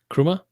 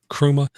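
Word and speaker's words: Chrooma: How do you pronounce that, Eric? Kruma. Kruma.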